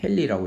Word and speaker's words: 헨리: H 이렇게 쓰고, 얘는 헨리라고 읽습니다. 헨리라고 읽습니다.